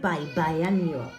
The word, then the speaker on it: biannual: and March by and watch the pronunciation there bye-bye because I think the meaning is the same but the pronunciation is different in English note bye-bye annual number fourteen it's letter